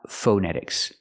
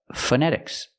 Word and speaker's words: phonetics: word phonetic or phonetics the first vowel is the short uh like cup and up it's relaxed uh uh F phonetics we have to pronounce the word phonetic and phonetics not phonetics don't use the O use the short uh F phonetics example when